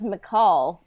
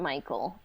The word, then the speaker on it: Mical: a while to be like oh his name's McCall but I always pronounced it Michael you know um Star Wars can be fun